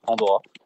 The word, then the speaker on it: Pandhora: C'est un peu la clé qui ouvre les différents mondes de Pandora. On pourra peut-être en parler un peu plus tard. Mais donc ce H au milieu, ce H muet, il nous a servi à plusieurs choses.